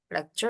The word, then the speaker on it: lecture: lecture lecture lecture kuliah Kalau ada C ada u deketan itu di bahasa Inggris dia agak bacanya tuh kayak ada y-nya gitu loh sure sure lecture lecture